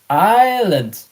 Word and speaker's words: island: And normally most of the time probably 80 90% of the time it is to indicate that uh in old times there was an s like island and of course you